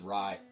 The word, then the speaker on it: Rai: Now that's how I said it, RAI. I've heard other people pronounce it differently, but in my book it was RAI.